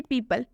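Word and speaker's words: people: कौन से शब्द है जैसे कि पीपल पीपल में आप देख सकते हैं ई है ई के साथ ओ है मतलब कि ओ के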